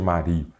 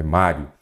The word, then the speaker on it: Mário: Mario sou estranho né nada de Mario é Mário Então ela é o